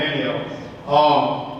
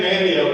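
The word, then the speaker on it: Manteo: This is kind of like Roanoke Island in Manio. And we say Manio, even though it's M-A-N-T-E-O. English teachers, the T is silent. We say Manio.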